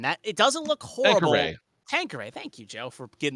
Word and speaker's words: Tanqueray: Tanqueray. Thank you, Joe, for getting the pronunciation right there.